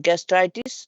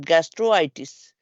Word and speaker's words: gastritis: begin with a vowel like gastritis not gastro itis gastritis no gtis keep the combining V